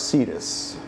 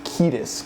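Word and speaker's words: Cetus: Cedus. Ancient Greek sea monsters known as Cedus were terrifying abominations. Ketus. Cadis. There's no soft C in Latin.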